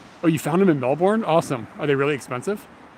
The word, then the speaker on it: Melbourne: oh yeah okay i the american pronunciation of i've never been there so i can have i mean i can be excused melbourne melbourne melbourne melbourne no you don't hit that r so hard right no boom there we